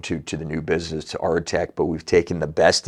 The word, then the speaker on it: Aretec: They'll say Artec or Aretec or Airtec. It doesn't really matter, right? We pronounce it Aretec, which is, I think, the correct pronunciation. But some of the people say Arctic, right?